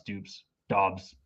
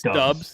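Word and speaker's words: Doubs: late date too absolutely i have no idea how to pronounce dupes dobbs it's dubs it's romeo dubs and i you know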